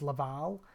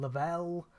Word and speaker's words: Laval: So the main character's Laval, but some of them call him Lavelle, and like there's like